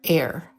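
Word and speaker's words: AIRE: now we're at air air which starts with this thing with a very mysterious name air like air that like that we breathe air it's spelled a-i-r-e and it stands for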